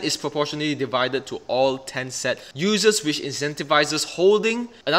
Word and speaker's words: Tenset: The name of this altcoin is Tenset. To me, it's pretty hard to pronounce because I keep saying Tencent, I don't even know why.